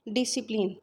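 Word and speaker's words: discipline: डिसिप्लिन, सी silent है।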